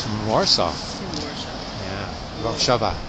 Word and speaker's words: Warszawa: Warszawa. Yeah, that's how you say it.